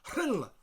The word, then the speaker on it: Rhyl: Rhyl is spelled R-H-Y-L. The Y-L is basically ill, and that R-H, one letter, in the Welsh alphabet, we got the H sound first, the H, and then the rolling R straight after it, so it's a Hr.